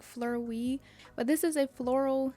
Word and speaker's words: Fleurwee: box um and I'm pretty sure that's how you pronounce it like Flur we but this is a